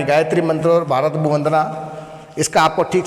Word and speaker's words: भुवः: फिर भूर, ये जो भू है इसके ऊपर र है तो भूर भुवः, भूर भुवः। विसर्ग है, इसका उच्चारण ह के रूप में होता है, इसलिए बोलेंगे वह वह।